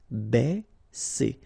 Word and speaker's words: baisser: Ba, okay, because A and E together will produce the sound E. Baisser, baisser.